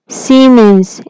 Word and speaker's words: Siemens: A world renowned company Siemens, pronounce it Siemens, is from Germany.